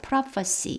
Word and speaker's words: prophecy: 지금 이 문장에서는 the prophecy of Isaiah, prophecy, 이 부분 F 발음이고요.